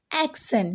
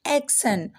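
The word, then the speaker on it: action: तो किसी भी वर्ड में अगर आपको TION एक साथ दिख रहा है तो उसकी प्रोनाउंसिएशन टायोन नहीं होगी, उसकी प्रोनाउंसिएशन हो जाएगी स। अब उसको क्या पढ़ना है, शन। क्या पढ़ना है, शन। फॉर एग्जाम्पल एक्शन, क्या पढ़ना है, एक्शन।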